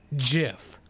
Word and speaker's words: GIF: It's technically according to the original creator pronounced GIF like the peanut butter.